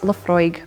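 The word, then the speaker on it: Laphroaig: debate about LEF frog you'll hear LEF LEF frog and many other mispronunciations so much so that LE fry have now actually added the pronunciation on the whiskey label The Distillery officially says Lefroy but you'll still hear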